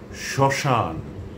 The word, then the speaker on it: শ্মশান: যদি শব্দের প্রথম ব্যঞ্জন বর্ণের সঙ্গে মফলা যুক্ত থাকে তাহলে তার কোনো উচ্চারণ হয় না।